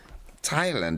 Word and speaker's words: Thailand: Thailand, yeah, the H here is silent.